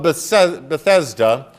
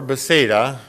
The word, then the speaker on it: Bethesda: we hear about the pools of bethesda or beseda whichever way you want to pronounce that that the pools